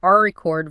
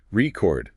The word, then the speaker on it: record: Record, noun, first syllable, is the thing you play music on, or a written account. Yep. And record, verb, second syllable, is the action of saving sound or information.